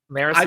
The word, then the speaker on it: Marasi: Marasi is how we want to say it.